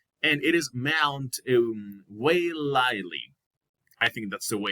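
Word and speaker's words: Waiʻaleʻale: it is mount um way lightly i think that's the way it is pronounced it's some it's a hawaiian term so it is located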